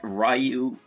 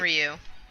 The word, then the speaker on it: Ryu: comes to mind and uh I know that rayu rayu because that's how you pronounce his name I always called him Ryu that's that's wrong that's wrong but that's fine